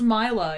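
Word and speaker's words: Milla: It's pronounced Mila if you're gonna be American about it.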